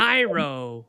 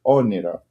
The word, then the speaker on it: Oniro: I've heard many different versions of it, but it's like Onairo. Onairo, but it's actually Oniro.